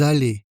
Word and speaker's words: allez: La terminaison se prononce et on fait aussi la liaison. Vous allez.